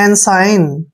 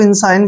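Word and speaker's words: ensign: आई जी एन देखिए ई का उच्चारण हम ए करेंगे एन को न पढ़ेंगे एस आई को साई पढ़ेंगे ऐसे साई और एन से पहले जी आता है तो जी का उच्चारण हम नहीं करेंगे ठीक है और एन को न पढ़ेंगे एनसाइन एन साइन एनसाइन क्या होता है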